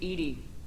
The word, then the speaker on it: EDI: Why are you named Edie? ED is the phonetic pronunciation of EDI.